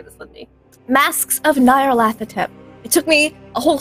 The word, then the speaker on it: Nyarlathotep: Masks of Nyarlathotep. It took me a whole season to learn how to pronounce that.